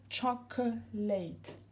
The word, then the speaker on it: chocolate: On va dire chocolate, comme si on passait de ça à ça directement.